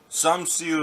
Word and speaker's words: Samsu: Samsu is how you say warrior, for all those wanting to speak Navi.